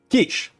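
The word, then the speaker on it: quiche: Kish, pronounced ke e s h.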